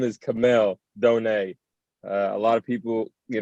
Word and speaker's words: Kamel Douhne: people know yes sir um my name is camille donai a lot of people you know get it wrong but it's all good but it's pronounced kamel donate for people that out there know your story